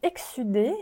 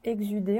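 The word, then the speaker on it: exsudé: En effet, ça fait penser à la sudation, excudation, mais donc ça expliquerait pourquoi ça se prononce ainsi.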